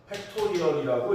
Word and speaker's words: 팩토리얼: 팩토리알도 나왔으니까 설명해주면 이 느낌표라고 해서 생긴 얘를 수학적 연산 기호고 팩토리얼이라고 읽습니다.